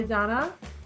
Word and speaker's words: Danna: Donna our resident hippie hi Donna hey Megan how's it going am I saying it right you are you're the only person on Earth who says my name right could that be you're